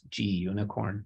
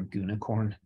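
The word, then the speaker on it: gunicorn: popular are uwsgi and I guess it's G unicorn is how you say it or goonicorn um for my sites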